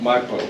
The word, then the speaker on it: Maipo: Maipo, yeah.